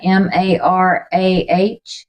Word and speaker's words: Mara: there's bitter water in how do you say that M A R A Mara Mara so Moses throws a